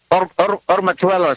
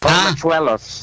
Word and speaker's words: Ormachuelos: Ormachuelos. It should be silent H. Ormachuelos.